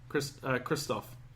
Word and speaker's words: Christoph: the amazing Christoph Waltz is in this movie, and he's not in it for that long. Christoph. Yeah, it's not Christopher. It's Christoph.